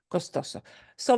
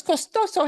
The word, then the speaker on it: costoso: it doesn't need it the way we pronounce this word follows the rule of stress which is last letter of the word is an O and we punch the second to last suable a little harder H so let me run